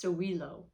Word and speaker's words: Sowilo: is sun wholeness oh it's pronounced sowilo i love that the